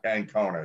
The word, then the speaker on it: Ancona: Ancona, yeah. Ancona. I keep thinking it's like the snake, Anaconda, but it's no.